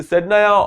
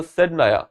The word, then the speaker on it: Saydnaya: Okay, Saydnaya or the Saydnaya, both of the spellings are right, and this is a local word over there, so its pronunciation can be different. So don't worry about that.